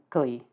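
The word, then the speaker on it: 癸: And these are pronounced jia, yi, bing, ding, and I'll try to be very careful with those two because they're very close together in pronunciation. Wu, ji, geng, xin, ren, and kui.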